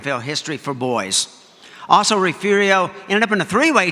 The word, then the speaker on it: Refugio: Now, it's a test of a true Texan if you pronounce it Refugio.